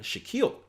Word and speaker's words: Shaquille: And I got a cool message by Shaquille. Awesome name, by the way, because it rhymes with Akil, and I'm super awesome.